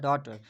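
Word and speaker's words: daughter: अब दूसरा हमारा तीसरा जो वर्ड है वो है डॉटर। अब डॉटर में भी जो जी एच है वो साइलेंट होगा क्योंकि ये वॉवल की साउंड नहीं दे रहे।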